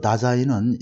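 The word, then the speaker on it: Dasein: 그래서 다자인이라고 하고 또 days인이라고도 발음할 수 있는데 there, 여기서 나라는 게 바로 there라는 장소의 개념입니다. 그래서 존재한다 이런 뜻이 되겠어요. 자, 읽으면서 한번 여기서 그래서 다자인은 여기서 거기 있음, 즉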